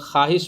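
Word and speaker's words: خواہش: भाव मोडल कहते हैं जैसे ख्वाहिश में सेल लिखने हैं लेकिन वहां पर ख्वाहिश पढ़ने हैं यानी वो को हम लोग साइलेंट कर देते हैं जैसे पं इंग्लिश शब्द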